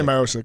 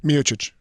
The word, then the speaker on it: Miocic: know but uh Stipe just say myosi we're good myosi how do you say it in Croatian miic miic I kind of like that pronunciation it almost sounds like